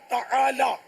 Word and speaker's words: تعالی: تعالی عین حلق سے نکالنا ہوگا، تو یہ سب کا نکلتا نہیں ہے.